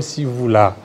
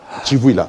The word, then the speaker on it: Chivouila: Merci beaucoup, Monsieur Sivouila. Voilà. Chivouila. Voilà, Chivouila. Voilà. Chivouila ou Sivouila? Chivouila, parce que les CI, l'Académie Louba, prononce Sachi, les TSHI a été déjà transformé pour les choses.